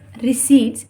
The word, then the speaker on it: receipt: पर दलित accounting times रिसीप्ट यहां पर भी पीस साइलेंट तभी प्रभु सर प्रणाम